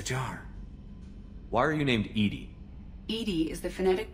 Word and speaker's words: EDI: airlock is a jar why are you named Edie Ed is the phonetic pronunciation of Ed that is an acronym for